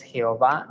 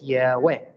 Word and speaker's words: Yehweh: En total tenemos 4 letras, I, E, U, E, Yehweh, no es Jehová, no es Yahvé, es Yehweh.